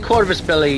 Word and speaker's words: Corvus Belli: It's done by a Spanish company, which I'm gonna now butcher the Spanish company's name, Corvus Belli. They do a pretty good one. Corvus Belli, you got it pretty on.